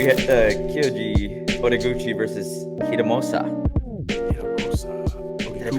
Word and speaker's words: Hiromasa: Hiromasa. Did I pronounce him correctly?